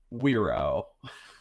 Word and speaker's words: Wero: We're saying it's pronounced Wero.